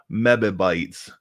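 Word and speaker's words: mebibytes: Um and yes I did pronounce it that way purposely. Mib is not just men in black. It's meabytes.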